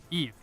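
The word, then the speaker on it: Yves: Olivia Hae, Kim Lip, and especially this girl, Eve, who has That's just how you great say her name?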